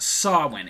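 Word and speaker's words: Samhain: the word is pronounced sawin it is an old Gaelic word it was a 3-day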